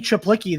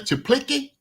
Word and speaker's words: Czaplicki: Chaplicki, is it Chaplicki? It's spelled CZAPLICKI. So I think it's Chaplicki.